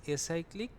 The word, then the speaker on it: acyclic: it it is lecyclic the pronunciation of acyclic and l cyclic seems to be same but it is not the right case here it is acyclic i mean it is